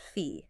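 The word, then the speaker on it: phi: okay and it's represented by the SLE okay pronounced fee fee it sounds almost mystical I have like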